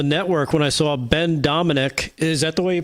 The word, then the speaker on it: Domenech: Actually, I was watching it on the network when I saw Ben Domenech. Is that the way you pronounce it? Domenech, yeah.